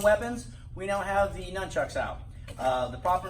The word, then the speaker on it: nunchuck: ooh please be advised there's no Ken in the word nunchuck my first thing I tell my students if you want to learn the nunchucks you gotta be able to pronounce it right so a nunchuck again